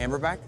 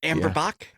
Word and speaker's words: Amberbach: Do you have like a Amberback? Okay, so apparently I found out later that's not the name of that beer. Hammerback? Amberbach? That's it. That's how you would pronounce that.